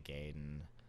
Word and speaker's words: Gaiden: of good Ninja boss Gaiden battles out there. Yeah, Ninja Gaiden. You call it Gaiden. I called it Gaiden for so many years. It's Gaiden. I'm just gonna Gaiden.